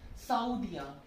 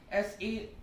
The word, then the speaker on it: Saoudien: Saoudien. S-A-O-U-D-I-E-N.